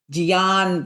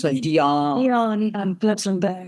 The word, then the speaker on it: Diane: Actually, her pronounces it Deion Bonfirst. She doesn't call herself Deian, she dion.